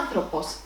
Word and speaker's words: άνθρωπος: Ο άνθρωπος, subject, του ανθρώπου, possessive. Ο άνθρωπος is a masculine noun with 3 syllables and the accent is on the 3rd syllable from the end.